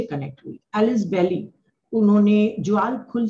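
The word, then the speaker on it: Djwal Khul: Alice बेली, उन्होंने ज्वाल खुल से कनेक्ट हुई थी, उनको शॉर्ट फॉर्म में डीके बोलते हैं। ज्वाल खुल हम बोल रहे हैं पर उसकी स्पेलिंग क्या है, DJWALKHUL, ज्वाल खुल, उनसे वो कनेक्ट हुई।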